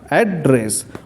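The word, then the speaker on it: address: देखिए उच्चारण में भी अंतर है, जब एड्रेस बोलूँगा तो नाउन के रूप में तो ऐड पे जोर होगा, एड्रेस एड्रेस, और जब वर्ब के रूप में तो रेस पे जोर होगा, ऐड धीरे से बोलेंगे, एड्रेस एड्रेस, ऐसा होता है उच्चारण।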